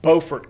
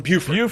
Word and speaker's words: Beaufort: You pronounced Beaufort correctly. Thank you. And I come from the other one that people mispronounce all the time. I come from Beaufort.